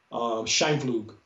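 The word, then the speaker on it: Scheimpflug: Scheinflug, I think I pronounced it correctly.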